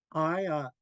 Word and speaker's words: Ayat: Another example is Ayat, meaning today. It could be spelled with a D at the end or a T at the end.